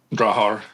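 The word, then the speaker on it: Drahthaar: I think a cocker, but he also has a German wire hair, which the German word for that, and I might mispronounce is droughtar. Drawar. Yeah, that's right.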